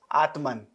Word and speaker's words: Atman: Atma and Brahm so Atma will be written as Atman in that way in English we write like this Atman but we pronounce only Atma remember and Brahma and